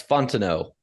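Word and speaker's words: Fontenot: this week first off that's Fontano uh you don't pronounce the T it's like uh former MLB infielder Mike Fontano um also of note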